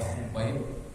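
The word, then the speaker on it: خبيب: Jadi cara baca Khubayb itu dengan dhammah kemudian kha al-mu'jamah, titik di atasnya.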